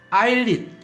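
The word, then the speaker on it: islet: 그 다음 아일릿 또 S가 발음이 안 되는 묵음입니다.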